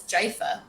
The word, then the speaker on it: GIF: right i think we can all agree it's jaifa i mean wow that is uh i haven't